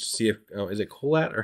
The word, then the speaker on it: Kohelet: You know, I'll do my Google searching just to see if is it Kohelet or how do you say Kohelet? Kohelet. It's Kohelet, son of David.